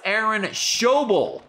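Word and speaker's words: Aaron Schobel: and ten nowhere to go for mcallister it's aaron shoble thanks prince of darkness for the pronunciation tip and that's that's the second pronunciation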